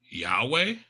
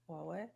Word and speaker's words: Huawei: and um I want to pronounce this right. Yahweh Huawei Huawei.